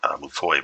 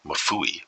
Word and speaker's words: Mafui: I've been saying Mufoi, but it's Mafui, so my bad.